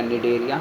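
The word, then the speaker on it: Cnidaria: तो टिश्यू के लेवल में आ जाएगा निडरिया यानी कि सेकंड वाला। और इसका सी साइलेंट रहता है। निडरिया और टेनोफोडा। टेनोफोडा इसका भी सी साइलेंट होता है।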